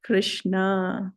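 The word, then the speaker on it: कृष्ण: Krishna, but short vowel R, but ensued by 2 consonants S and N. Krishna.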